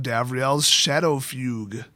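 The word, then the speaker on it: Davriel's Shadowfugue: We also have Davriel's Shadow Fugue. Yes, that's how you pronounce it.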